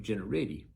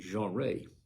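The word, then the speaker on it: Jeanerette: It's spelled Jeannerette, and I would call that Generetti, but they call it Jeanrette.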